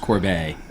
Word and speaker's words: Corbet: People can pronounce it however they prefer, but it is pronounced Corbet.